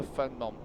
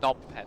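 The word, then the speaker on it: Phnom Penh: I do not understand the sector files for Phenom, and I've watched Nom- videos for nom 10 pen. minutes. That's Phenom. That's Phenom. Non-pen. Non-pen is how you pronounce that.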